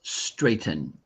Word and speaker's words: straighten: Baffine, this word is pronounced straighten. Straighten. Straighten. Straighten. Yeah. Make sure you make that little n sound at the end.